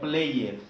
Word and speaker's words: played: Played, no played. Si lo pronuncias así como está escrito, está mal, ¿vale? Recuerda, escucha, abre tus oídos. Played. Y aquí está el apoyo para que ustedes vean cómo se pronuncia.